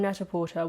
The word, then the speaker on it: Net-a-Porter: now it's funny because I'm still on Neta Porter which I know some people pronounce it nte which is probably a much more accurate way of saying it based on the fact that it comes from the French I know but I